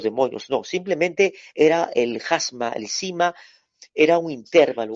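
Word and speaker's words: χάσμα: Ahí la palabra cima, en el griego es jasma, anótelo, jasma, se escribe Jasma, acento en la primera A, jasma, cima.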